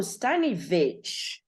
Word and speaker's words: Staniewicz: how do you pronounce it how do you pronounce your last name sunny study oh stanivitch yes okay okay so it's a beach okay stanovich so yes you'll see her as stanovich